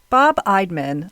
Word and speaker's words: Bob Eidman: So, I'm putting all my trust in them that I'm pronouncing his name correctly with my strong Delaware accent. Bob Idman lives in St.